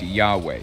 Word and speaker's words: Yahweh: and all that but it's generally agreed that it's pronounced yahweh in modern english ancient hebrew didn't use